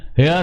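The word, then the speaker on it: heir: एन ही इज एन हेयर ऑफ his father's property अब student य ये आपका क्या आ गया यर आ गया तो यहां पेहा की आवाज नहीं आई तो क्या लगा एन क्या लगा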